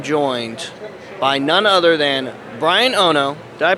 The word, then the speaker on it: Bryan Ono: And today, I am joined by none other than Bryan Ono. Did I pronounce that correct?